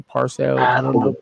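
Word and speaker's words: Pearsall: Is that how you pronounce his last name? Parcel. I don't Is know it Parcel? Purcell.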